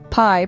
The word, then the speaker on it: pi: pie that we celebrate pie pronounced like The Delectable dessert but spelled differently is an extraordinary mathematical